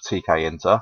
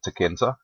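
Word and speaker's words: Tkinter: make our GUI, and this is called TKEnter. Some people pronounce it TKEnter, either way is fine.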